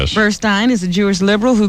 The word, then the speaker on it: Burstein: Lesbian Brooklyn family court judge Karen Burstein or Burstein. How do you say that? Burstein. How do you spell it? S T E I N.